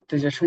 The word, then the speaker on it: cache: Hazel says Cashi says C. And we all we all feel that it will be like cache but people who are from technical background would say it is pronounced cash just cash of memory.